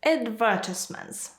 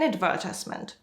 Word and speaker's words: advertisement: video, you see an advertisement or two. Actually, you can pronounce this word in two different ways. Advertisement is British. Advertisement is American.